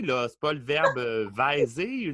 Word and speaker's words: vais: C'est pas le verbe vaiser. Non, c'est je vais, V-A-I-S. On prononce même pas le S.